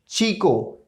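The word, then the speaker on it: chico: अगर सी एच के साथ आता है तो उसका साउंड हो जाएगा चा। ओके, चा। Like चीनो, चीको, चीनो, चीको।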